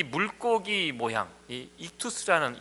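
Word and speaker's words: ΙΧΘΥΣ: 아니고요 어 헬라어 입니다 이것을 어 이투스 라고 이렇게 발음합니다 5가지 다섯 개의 단어가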